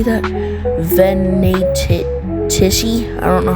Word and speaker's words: Venatici: Sorry, I had to look up how that was um freaking pronounced cuz I don't know how to pronounce I thought it was pronounced Venitis or something.